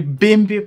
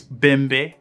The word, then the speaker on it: Bembe: some people also refer to it as the bimbi pattern actually the correct pronunciation is bambe and member is a type of african drum